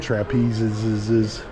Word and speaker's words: trapezes: It's like you're actually in a circus, complete with rings and trapezes. Yes, that's the correct plural pronunciation.